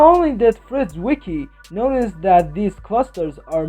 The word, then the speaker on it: Zwicky: in 1932 the scientist fred zwicky noticed that the zed is silent okay in 1932 the scientist fred's wiki while he was studying